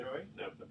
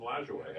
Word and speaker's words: Lajoie: The Naps because of the Napoleon Lajoie? Lajoie, actually.